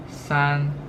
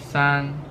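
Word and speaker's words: 三: okay and it's pronounced son son so we have this initial s and and this turn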